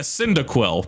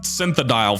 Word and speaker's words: Cyndaquil: choices between a totodile a chikorita and a cyndaquil that i'd pronounced synthedial for some reason i chose cyndaquil the fire